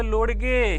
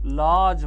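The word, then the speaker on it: lodge: जी ई म्हणजे जुडगे मी एकदा लिहिलं एल ओ एल ओ डी जी ई एल ओ डी जी ई ते म्हणलं लोडगे हे लोडगे हे का रे हे लोडिगे का नाही याला काय म्हणायचं लॉज म्हणायचं काय म्हणायचं लॉज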